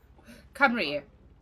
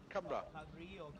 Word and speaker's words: Cymru: Cymru. Cymru.